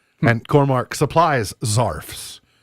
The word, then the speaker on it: zarf: I don't know if that's because it rhymes with scarf, because you wrap a scarf around your neck.